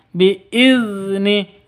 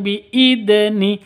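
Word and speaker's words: بِإِذْنِ: Biizni, bukan biidni, tapi biizni. Ujung lidahnya ke gigi seri atas.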